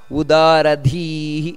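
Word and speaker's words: ಉದಾರಧೀಃ: ಬರಬೇಕು ನಂತರ ವಾಚಸ್ಪತಿ ರುದಾರಧಿಹಿ ಧಿ ಮಹಾಪ್ರಾಣ ಮಹಾಪ್ರಾಣ ದೀರ್ಘ ಎರಡು ಇದೆ ಅದಕ್ಕೋಸ್ಕರ ಉದಾರಧಿಹಿ ಆ ರೀತಿ ಬರಬೇಕು ಇಲ್ಲಿ ಯಾವ ಯಾವ ಭಗವಂತನ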